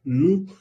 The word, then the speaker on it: nous: dice nous o nous, se pronuncia nous, porque OU se pronuncian U y la mayoría de los consonantes cuando van al final no se pronuncia.